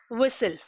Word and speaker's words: whistle: जब भी हम लेटर T को L के साथ यूज करते हैं in that case T is always silent। Let's see the examples। जैसे whistle।